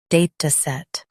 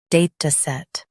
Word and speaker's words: DATASET: Both US and UK have the same pronunciation of this word, DATASET. Now read the syllables shown on the screen naturally. Day, t, set, DATASET. Stress day and keep t light.